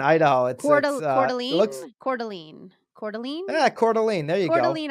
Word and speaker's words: Coeur d'Alene: jerk I don't even know how to pronounce that of course this is an Idaho an Coeur d'Alene yeah Coeur d'Alene there you go to lean Idaho something you'd